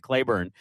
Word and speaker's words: Claiborne: you said no, it's the locals pronounce it Clayburn. Um and because unless you have to go to Clayburn today, you probably wouldn't end up in Clayburn.